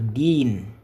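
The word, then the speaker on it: الدين: Au lieu de dire din sur la haraka on va dire dine hein d i n hein.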